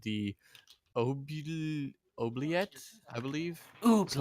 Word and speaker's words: oubliette: To the north, you see carved in great stonework is a place called the Oubliette, I believe. Is that how you pronounce that? Oubliette.